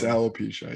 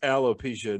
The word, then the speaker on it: alopecia: what aeropesia the the disease where you know alopecia i think it's it might be arrow aloe makes more sense now hearing it might it might not be arrow it might not be arrow uh it's alopecia yeah aloe makes so much more sense um